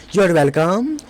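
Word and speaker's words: you're welcome: आपका स्वागत है, योर वेलकम, योर वेलकम, यहाँ पे आर जो है वो साइलेंट है। योर वेलकम, योर वेलकम, इस टाइप से बोलना है।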